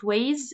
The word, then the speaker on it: weighs: a verb Yen okay it weighs GH is silent it weighs a lot